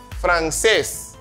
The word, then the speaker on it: francés: Papá, papá, café, francés. ¿Comprenden? Papá, café, francés. Ahí se ve, los acentos están sobre la última sílaba.